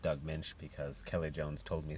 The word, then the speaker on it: Doug Moench: And I know that his name's pronounced Doug Moench because Kelley Jones told me so on a EVS video.